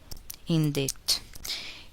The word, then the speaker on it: indict: The letter C is silent in the following words. Listen and repeat after the speaker. Indict.